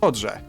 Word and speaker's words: szczodrze: Wait, so, is he combining the D and the RZ together, kind of? Szczodrze. Sz, ch, o, d, ż, e. Szczodrze. Okay, so it's like kind of so szczodrze. Like he's really finishing the pronunciation of that D, like szczodrze.